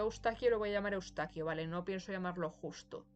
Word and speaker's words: Eustaquio: fácil de pronunciar, pero aquí en España se le llama Ustaquio, ¿vale? Porque literalmente ese es su nombre traducido al español. Él se llamaba Yustas y aquí se llama Ustaquio, ¿vale?